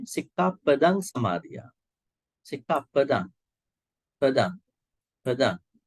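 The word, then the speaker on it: sikkhāpada: some people might say Sikka Padang Samadhiya. Sikka Padang, Padang, Padang, Padang. Actually, it should be not Sikka Padang. We call it Sikka Pada in Pali.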